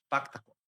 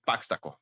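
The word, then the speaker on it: Paxtakor: Pactacor e não, mas a pronúncia segundo aqui é é paxtacor.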